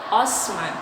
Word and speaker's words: Osman: Kenapa orang Barat nyebutnya Ottoman? Karena ejaan di Barat Utsman itu mereka nyebutnya Utsman. Osman. Nah, mereka enggak bisa nyebut tsa. Jadi, otoman gitu ya.